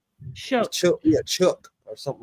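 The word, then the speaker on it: Shough: Oh, it's pronounced Chuck.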